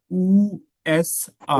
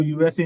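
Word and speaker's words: USA: उ एस आ उ एस आ इसको यूएसए नहीं कहते इसको उएस आ बोलते हैं।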